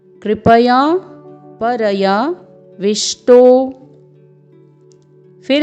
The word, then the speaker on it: कृपया: यहाँ पर क में री का स्वर है, क्री, र का स्वर नहीं है। इस बात का आपको ध्यान रखना है। क में री का स्वर है, कृपया।